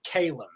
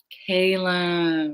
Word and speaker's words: Calum: Today we have Calum Scott on the show, and you may recognize him from Britain's Got Talent.